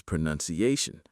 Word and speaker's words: pronunciation: The verb is pronounce, but the noun is pronunciation. Say it slowly. Pro-nun-ci-a-tion.